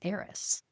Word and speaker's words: Aeris: talking about it, and Aris as in like spelled HEIR. Okay. Yeah, right. Yeah. So an heir to something. Yeah. Right. And then air AIR. Yeah. Is in the pronunciation.